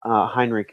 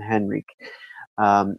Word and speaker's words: Henrik: to Aristotle okay so let's talk about Heinrich epson and that's how it's pronounced in Germanic languages it's Heinrich rather than Henrique he was a Norwegian